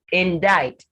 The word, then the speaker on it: indict: z sound it's muscle indict the d is and the c rather is silent in indict in dark now to